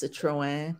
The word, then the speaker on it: Citroën: it's a citrus I never know how to pronounce this it's Citroën Citrus so that's I've only seen like kind